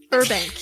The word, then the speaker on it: Urbank: Urbank, yes. You heard. Yeah. Wait, herb or burb? Urbank.